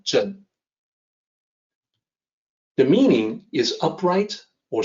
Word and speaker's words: 正: This character is pronounced zhen. So zeng in pinyin is the closest that we can come to for the actual pronunciation, zhen.